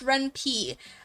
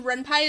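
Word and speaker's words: Ren'Py: Is it not pronounced Ren P? Um so the pi comes from Python. Um and it's supposedly the name Renpai is also a pun on Reni, which is a Japanese term.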